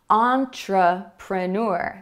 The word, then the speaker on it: entrepreneur: Entrepreneur. Did you hear the schwa sound? It comes after the first stressed syllable. Entrepreneur, entrepreneur. So that is the schwa sound coming out again, but with a different vowel.